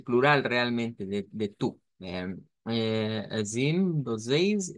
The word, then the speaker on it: vocês: Podemos usar la pronunciación con la J o con la I en este caso. Entonces, para esa E con el diacrítico, con el circunflejo. Esta sería la pronunciación con la I, vea que se nos hace más sencillo a nosotros. Recordemos que puede ser vocear con esa J o bien vocês, que es más común en Brasil.